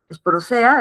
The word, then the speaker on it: Sporozoea: El filo es apicomplexa, la clase es Sporozoea, Sporosea, así se pronuncia, y la subclase Coccidia, ¿sí?